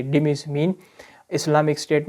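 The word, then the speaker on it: dhimmis: से पुकारा जाता है उन्हें कहा जाता है डिमस डिमस जो स्पेलिंग है डी एच I double M आई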